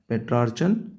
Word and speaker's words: Petrarchan: Look at the pronunciation. Petrarchan sonnet.